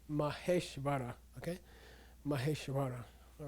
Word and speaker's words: Maheshvara: I say Maheshvara, okay?